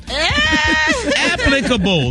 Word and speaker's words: applicable: The word is applicable. Applicable. You said it right. It's applicable. A lot of people say applicable. It's not applicable. You don't Gary emphasize. says applicable. Now, why do you say applicable, Gary? Because you pronounce both of the P's.